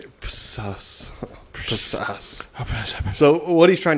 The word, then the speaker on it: psoas: trying to say it's it's all spell its psoas major muscle and that's that's definitely they know don't dumb it down for ya like that P is probably silent yeah so that's why I said so I thought it was